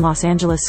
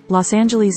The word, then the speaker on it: Los Angeles: Previous to the 1950s, Los Angeles' name had multiple pronunciations, but the soft G pronunciation is universal today.